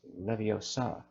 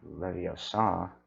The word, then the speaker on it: Leviosa: someone's eye out besides you're saying it wrong it's Leviosa not video star I love that part